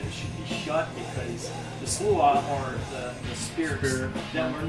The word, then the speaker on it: Sluagh: Well, SLAUGH, that's how you say it. Sluagh. SLAUGH.